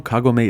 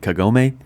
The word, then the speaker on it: Kagome: I know Kagome is correct, but growing up with YTV and a quarter century of memes, it's hard not to pronounce it Kagome.